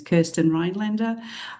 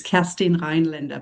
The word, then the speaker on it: Kerstin Rheinländer: Um, so the um the English pronunciation of my name is Kirsten Rinlander, but because I'm German, I will honor Alpha here. It's Castine Rinlander, but we won't make it too complicated.